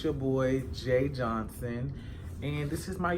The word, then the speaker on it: Jai: Once again, my name is Jay. It's spelled J-I. I know a lot of y'all who follow me on Instagram call me Jais, Jaz. It varies.